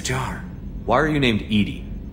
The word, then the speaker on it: EDI: airlock is a jar why are you named Edie Edy is the phonetic pronunciation of Eed that is an acronym for